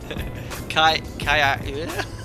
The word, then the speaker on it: Ajaccio: Sam, if I may capture the pronunciation is Kaya.